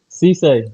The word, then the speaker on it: Sesay: Sesay, Sesay. Sesay.